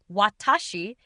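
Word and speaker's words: 私: In Japanese, the kanji, pronounced watashi, is a first person pronoun meaning I or me.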